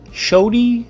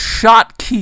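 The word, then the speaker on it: Schottky: We're going to take some shoddy Scotty Shody, it's pronounced shot key, you stupid diodes, 40 volt.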